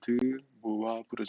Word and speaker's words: 드무아브르: 이러한 형태로 얘가 드무아브르 정리 읽을 때는 이렇게 읽어야 돼요. 드무아브르 정리 무아브르 발음이 좀 까다롭긴 하지만 드무아브르 정리 드무아브르 정리를 들어보지 않은 과거 2학년생도 많이 있거든요.